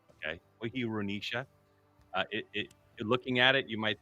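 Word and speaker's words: Choirunisa: All right, just so you guys are aware, the archer from Indonesia, how you pronounce your last name is Wahirunisha. Okay, Wahirunisha.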